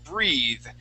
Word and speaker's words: breathe: Okay, with an e at the end and a long e sound, that th is a voiced th. Breathe. Okay, so there's that vibration.